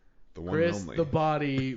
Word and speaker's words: Body: guy like your name your last name is literally spelled like body it's pronounced bod but you do have